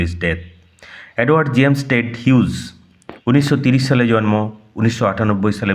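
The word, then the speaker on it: Hughes: টেড হিউজ, উচ্চারণ লক্ষ্য করো, টেড হাগিস হবে না, টেড হিউজ।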